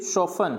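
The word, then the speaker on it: soften: फिर सोफन, सॉफ्टन नहीं पढ़ेंगे, इसको क्या पढ़ेंगे, सोफन।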